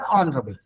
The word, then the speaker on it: honourable: It is honorable or honorable. Actually, H is silent.